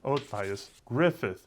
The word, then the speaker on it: Matthias Gruffudd: Hello class, I'm your professor for this lesson, Matthias Gruffudd. It's pronounced different than it's spelled.